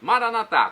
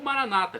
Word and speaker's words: Maranata: Jesus para o português Maranata com a tônica na última sílaba como dizem os católicos vinde Senhor Jesus ou Maranata com a tônica na penúltima sílaba como dizem os protestantes os evangélicos nossos irmãos separados não